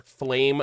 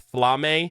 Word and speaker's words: Flamme: am now aware that her name is pronounced Flame the legendary Mage so just wanted to get this out of the way otherwise I know a lot of people were going to mention it in the comments I apologize I'm an American I don't know how to pronounce things it read flame with two M's and I just ran